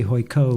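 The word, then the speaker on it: Huike: I think it's pronounced Hoi Ka, but here in the United States we say Hoi Ko.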